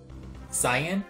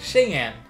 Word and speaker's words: Xi'an: Xi'an? Xi'an? No, this is pronounced Cheyenne, and based on the ancient Chinese capital city of the same name.